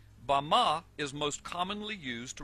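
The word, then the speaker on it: בָּמָה: in the Strong's Hebrew dictionary and it is pronounced Bama. Bama is most commonly used to refer to a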